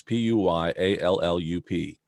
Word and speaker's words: Puyallup: ever come up here it's Pui al lu p and nobody knows how to pronounce it especially when you see